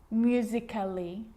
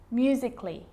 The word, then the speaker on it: musically: with the letter A now the letter A can be silent especially in words that end in a LLY like these romantically musically logically so I'm not pronouncing romantically musically and logically cut the AR get rid of it romantically musically logically